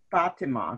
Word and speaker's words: Fatima: and went to the fatima that's how you pronounce it this is what i